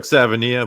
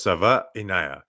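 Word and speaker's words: Savaiinaea: I I looked at the pronunciation. It looks like Savania, but it's Sava Inaya.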